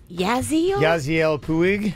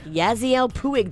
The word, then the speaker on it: Yasiel Puig: Yasiel Puig. Yasiel Puig.